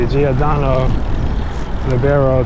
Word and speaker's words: Giordano Libero: why I've been riding all this time the giodo leero 2.0 that's how it's pronounced I've been having an amazing time with